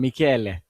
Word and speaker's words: Michele: think it's the musical sound, Michele.